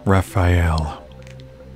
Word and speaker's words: Raphael: Raphael. Yeah, that's how you pronounce it.